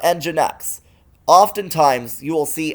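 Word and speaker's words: nginx: networks next cloud desktop not pronounced ninx but enginex oftent times you will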